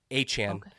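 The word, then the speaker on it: Etienne: So, it's spelled ETN as we would say like up here in in Ohio. However, eten that's how you would actually say it in their dialect.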